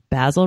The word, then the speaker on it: Basil: stuck in the 80s basil rhymes with hazel and Croft in Maryland